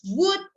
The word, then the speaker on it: would: down sorry remember that the words would could would la letter no pronunciation a silent letter would good so again